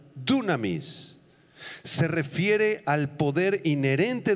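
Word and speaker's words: δύναμις: apunten la palabra griega dunamis con acento en la u dunamis se refiere al poder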